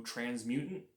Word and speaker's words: Transmutate: And then also, I'm very much looking forward to Transmutate.